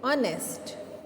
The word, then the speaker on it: honest: In this word honest, H letter is silent. When we read it, we will read honest. Okay, so write here N. He is an honest man.